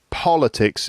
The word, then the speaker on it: politics: stress does change right politics is the first first syllable has the stress politics right that's the world of politics but then a person that